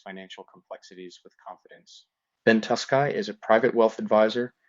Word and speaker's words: Tuskey: People like put letters in there. Tuscan there's no N in my last name, but Tuscan is a very popular enunciation of my name, but it's Tusky.